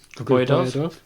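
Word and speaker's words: Griboyedov: Grboyedov.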